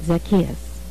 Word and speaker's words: Zacchaeus: This is the story of Zacchaeus, or as some pronounce it, Zacchaeus.